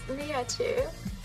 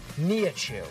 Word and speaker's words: Nihachu: Can you give me the official pronunciation? It's Nihachu. Nihachu.